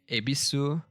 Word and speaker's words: Yebisu: While obsolete, the kana is still used for creative purposes, like in the beer yebisu, which is pronounced ebisu, but uses the original spelling it had in 1890.